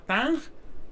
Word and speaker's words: Tong: Lo que se le llama Tang, pero se escribe Tong, ¿no?